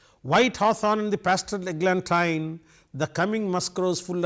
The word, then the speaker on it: eglantine: Now I tell you, I said eglantine because it rhymes with wine.